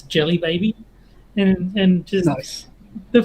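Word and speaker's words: Djelibeybi: gloss over it but when you look at it and try and pronounce it it's jelly baby and and just nice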